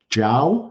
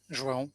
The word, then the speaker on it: João: Okay, we're going to hear from Zhao. Is that how I pronounce it? João, yeah. One question.